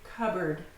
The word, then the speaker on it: cupboard: So notice, it looks like it's cupboard, but no, we can't pronounce the P and B right next to each other, so we just say cupboard, cupboard.